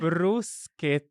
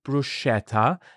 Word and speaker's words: bruschetta: brus let let repeat it one more time brusa with a so it's not Bretta it's brusa okay it's really really important and